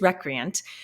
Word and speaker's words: recreant: it up because a I wasn't sure I was saying it correctly and B I didn't know what it meant so I was saying it correctly it is recreant but what it means